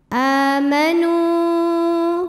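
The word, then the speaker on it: آمَنُوا: Sebab ada hamzah yang dipanjangkan. Cara bacanya panjang a-nya 2 harokat. Amanu.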